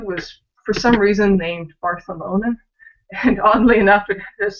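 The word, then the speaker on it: Barthelona: And oddly enough, it just so happens that it comes from a sample I got from Catalonia. So, you know, place where Barcelona is and how it would be pronounced in Spanish.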